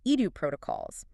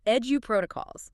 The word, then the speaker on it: EduProtocols: second subject is pronounced edu protocols. Edu protocols. Yeah, think of the word education.